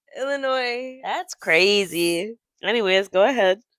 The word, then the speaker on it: Illinois: You pronounce the S? No. Illinois? Illinois.